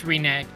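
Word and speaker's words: renege: that Rene Rene Renegade it's reneg re reneg yeah reneg the emphasis is on the second syllable yeah reneg you reneg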